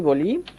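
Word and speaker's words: ball: যদি বলি, এই যে বানানটা দেখেন, খেয়াল করেন, বি এই এল এল, কি উচ্চারণ করব বন্ধুরা, হ্যাঁ বল উচ্চারণ করব।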